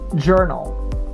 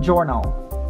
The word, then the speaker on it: journal: comparability comparability next one journal it's not journal it's journal journal it's almost like j e r n a l so the o u sounds like a letter e journal journal this one is not